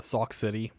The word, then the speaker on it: Sauk City: And you got Baraboo, and you have the fuck's the one next to Sauk City? No, it is not spelled like sock, like SOCK. It is SAUX, Sauk City.